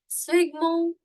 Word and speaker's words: sphygmomanometer: Now the pronunciation for it, even I need to learn the pronunciation of it. It is sphygmomanometer.